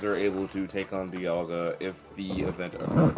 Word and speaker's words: Dialga: How do you spell Dialga again? Dialga. Dia and then Luga.